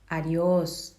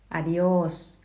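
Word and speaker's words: adiós: คะ เขา ก็ จะ ออก เสียง ว่า adios มี อายุ ส คือ อะดิ โอ้ ส นะ คะ ตัว มา เป็น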